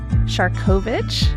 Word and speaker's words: Siarkowicz: Today we are stepping back in time, but not too far as we sit down with Ed Shovich. Did I pronounce that correctly?